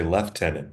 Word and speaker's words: lieutenant: And we could use We could pronounce things like instead of lieutenant, we could say left tenant, which I think they still do in Britain.